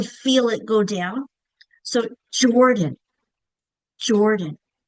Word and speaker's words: Jordan: So, Jordan. Jordan. That first syllable, the chin goes drops down because it's said with more emphasis. You could do it in an angry voice. Jordan.